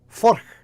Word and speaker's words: Furch: So what happened was, if you missed it, so Furch, that's how you say it, by the way. I kind of knew how to say it from early on, but I kind of